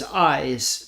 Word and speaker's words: Ys: So, another game that's on your list that I'd like to talk briefly about because it's interesting is Eyes. That's spelled Y-S, by the way, 9.